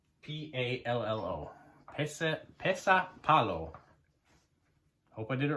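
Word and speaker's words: pesäpallo: Pesipallo. I'm hoping I pronounced that right. So the Finnish version of baseball is Pesipallo. P-E-S, 2 dots above the A. So P-E-S-A, 2 dots above the A. P-A-L-L-O. Pesapallo.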